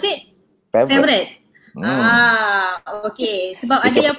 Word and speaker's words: Favoriot: Is that how Favorite. You pronounce it? Favorite.